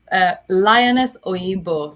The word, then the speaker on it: Lioness Oyinbo: Lioness Oyinbo. So that's spelled LIONESSOYINBO.